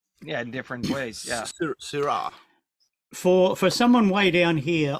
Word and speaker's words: CYHRA: Okay, I will assume that you think that it's Kyra. I was wondering if it was Syra, actually. It is Syra, Right, but okay.